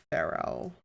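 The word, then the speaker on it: Ferowl: their last name be Feral? No, but it's spelled F E R O W L and pronounced feral cuz then I could have um Celeste's name be Star with a Z.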